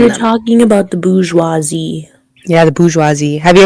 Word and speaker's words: bourgeoisie: B-O-U-R-G-E-O-I-S-I-E. Bourgeoisie. Is that how That you should be imagine the word pronounced being spelled?